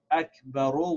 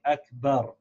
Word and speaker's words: Akbar: letter the short vowel that it has gets pronounced like a sock in that's why instead of Akbar rule we say Akbar so let's read it again Allah ho Akbar